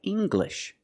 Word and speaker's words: English: When you have an L after it, it makes the G sound, like English. Make the hard G, English.